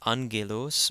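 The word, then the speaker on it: ⲁⲅⲅⲉⲗⲟⲥ: word where we have the first gamma and this word being pronounced as an n followed by a second gamma pronounced as a hard G so this is an G Lewis angelos means angel Angelo's a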